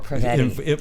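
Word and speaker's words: Prevetti: Pravati? Yes, she did, Yeah. which we were very grateful for. Am I allowed to say her name? Laurel Pravetti.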